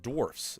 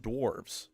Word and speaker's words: dwarfs: Okay, that it's pronounced dwarfs, not dwarves.